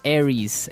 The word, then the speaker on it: Aries: And um so it's pronounced Aries.